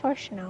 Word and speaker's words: Shannono: can barely pronounce his name. It's Shannono.